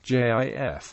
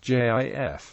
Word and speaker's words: GIF: Brand's television commercials and alternative pronunciation with a hard G is in widespread usage the American Heritage dictionary sites both acknowledging JF as the primary pronunciation